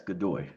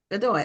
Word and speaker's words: Godoy: So your last name is pronounced Godoy? Yes, Godoy. Godoy.